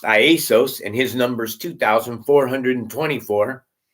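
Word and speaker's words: Ἰησοῦς: In the Greek concordance, Jesus's name is Iesos. It's not even called Jesus in Greek. It's pronounced Iesos, and his number is 2,424.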